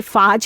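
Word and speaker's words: phage: ये कई लोग इसे फाज के रूप से भी बोलते हैं, कई इसको फेज के रूप से जानते हैं।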